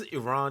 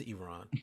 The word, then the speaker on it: Iran: Also, it is Iran. Y'all stop saying Iran. I say Iran the joke, but it is Iran. Please say it correctly.